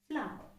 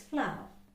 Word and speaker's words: flower: know the word but how do we usually pronounce it we say flower it's not flower it's flower flower okay so this sound is not heard at all it's flower flower how can i write it in malayalam